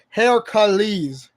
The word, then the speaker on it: Heracles: See, if you listen closely to the name, it sounds like the word Hera, like the Greek goddess, but no, Heracles.